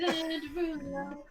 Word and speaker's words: Derulo: Derulo. Yeah, That's how you pronounce his name.